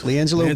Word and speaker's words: LiAngelo: LiAngelo Ball.